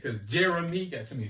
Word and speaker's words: Jeremy: some version of my name okay um apparently Jeremy is a very hard name to pronounce for a lot of people um it is what you really say Jeremy Jerry Jerome jry yeah I'm like what's your name Jeremy